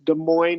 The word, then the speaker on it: Des Moines: And then, yes, Des Moines and Freud, you pronounced perfectly.